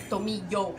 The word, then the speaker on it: tomillo: Anytime there's two L's like that together, it sounds like ya, not lo. It's ya, like tomillo, like yo.